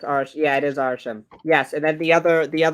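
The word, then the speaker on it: Arishem: Arsham? Arsham? Hold on. It is Arsham. Arsham. My gloves are. I can't type with them. Let me take. I'm pretty sure it's Arsham. Yeah, it is Arsham.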